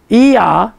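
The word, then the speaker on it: Ehyeh: I am that I am is pronounced E-I, it's E-H-Y-E-H, if you want to write it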